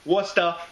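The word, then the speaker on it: Worcester: it's from wormtown Brewer who was out of Wasa Massachusetts isn't that the correct pronunciation Dave Wasa Massachusetts and what beer is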